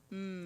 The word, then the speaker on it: natty: Not spelled like the woman's first name. Natty.